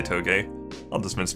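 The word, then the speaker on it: Toge: game productions or toes T OTE I'll say toe gay of the Smiths pronounced like everything in this video and as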